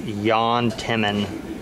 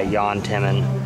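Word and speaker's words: Jan Timman: name is actually pronounced Yan Timon uh it's a European name you don't pronounce the J it's it's like a y Yan Timon here's one you didn't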